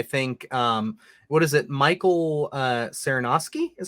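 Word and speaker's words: Sarnoski: Michael Saranoski is how you say his name.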